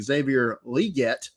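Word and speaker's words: Xavier Legette: draft what I found out today the correct pronunciation of his name is Xavier liette oh I've been saying it wrong for five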